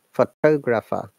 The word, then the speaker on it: photographer: pronounce it guys photographer did you see the stressed plus changed for toe toe is stressing on photographer British IPA in American